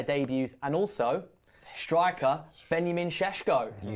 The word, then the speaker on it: Šeško: And also striker Benjamin Sheshko.